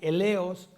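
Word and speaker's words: ἔλεος: Aquí la palabra misericordia es del griego eleos, acento en la primera E, eleos, y significa compasión humana, compasión divina, ambas partes.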